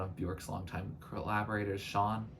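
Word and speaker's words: Sjón: bjork's Long Time Collaborators Sean I think that's how sjon is pronounced but uh he wrote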